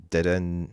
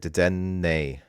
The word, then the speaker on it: Dedenne: Next we have first of all, like this card, Deden. God, I always forget how to say this card. Dedenne, right? Dedenne.